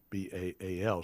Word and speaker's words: Baal: middle east who worship bale b-a-a-l sometimes pronounced ba'al bale the symbol for baal